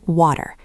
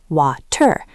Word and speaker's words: water: It becomes a soft, quick D sound. Think of the word water. In strict pronunciation, wa-ter, but you usually hear water, water.